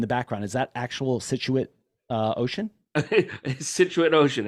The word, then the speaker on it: Scituate: right outside of Boston in the town called Scituate Massachusetts and um it's funny because if you